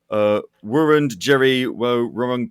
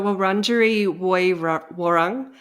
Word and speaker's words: Wurundjeri Woi Wurrung: the lands of the, and I'm hoping I'm pronouncing this correctly, I'm probably not, Wurrung Jerry Wurrung people of the Kulin Nation.